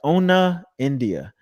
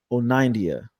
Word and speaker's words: Onaindia: like ona india and i was like nah that's not how you say it and then i think i saw one of your interviews podcast i had to go look it up and you're like oneida yep you nailed it oh nineties yeah